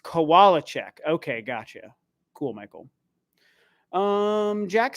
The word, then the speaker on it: Kowalczyk: It's pronounced Kowalczyk.